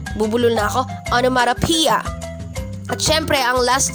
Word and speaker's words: onomatopoeia: Tandaan po, ang stress ay nasa 5th syllable na P, onomatopoeia.